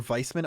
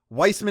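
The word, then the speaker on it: Weissmann: to whether or not his name is pronounced Weissman or Viceman on a game-by-ame basis. According to his Japanese name, Weissman is correct.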